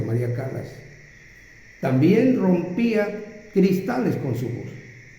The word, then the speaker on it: Callas: se llamaba María Callas se escribe callas con doble l María Callas pero se pronuncia María Calas también rompía cristales con